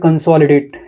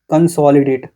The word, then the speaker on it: consolidate: Okay, focus on the word consolidate. It has four syllable. I don't know what is syllables. Consol consolidate. Consolidate. I mean we need to focus on SOL.